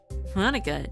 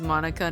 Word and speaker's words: Monika: said her name wrong cuz Monica not Monica yeah it's with a K hey sori I wave